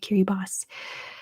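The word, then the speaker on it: Kiribati: a lot of places why is kiribos said Curie boss because the ti is pronounced an s in that language that is just how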